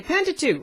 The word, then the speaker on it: Pentateuch: and they're called the pentateuch lots of kids struggle with the word pentateuch so we always say pentateuch rhymes with luke helps them to remember the correct pronunciation so we've got those